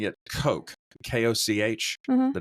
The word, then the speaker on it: Koch: Well, I know in German it's like Koch, like it's funny because it sounds like a cough, and he's like a bacteriologist. But like I've heard people here in America sound it out as Koch too, but that hurts my spinal cord for some reason.